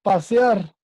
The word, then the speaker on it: pasear: Y la última, pasear. Sílaba tónica de pasear.